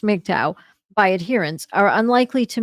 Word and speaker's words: MGTOW: MGTOW, which is pronounced MGTOW, by adherents are unlikely to meet in person, instead sharing their techniques, successes, and failures online.